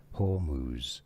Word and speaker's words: Hormuz: Like all of these things and the straight of hermouth getting I can I can't pronounce that word properly.